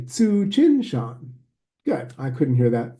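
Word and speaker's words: Tsuchinshan: So this comet is pronounced Tsu, TSU, Tsu, everybody now. Chin, Shan, everybody. Tsu, Chin, Shan.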